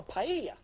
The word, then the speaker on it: paella: now it's called a paya the AE ll a double a's and spanish are pronounced as a y so we have an